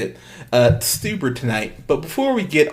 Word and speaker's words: Stuber: Stuber tonight.